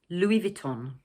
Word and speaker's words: Louis Vuitton: But unlike in French, in the second word, the final N is pronounced in English.